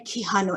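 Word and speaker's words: Quijano: theory such as minion so that's how we pronounce their names miniolo um and kihanu and i've i really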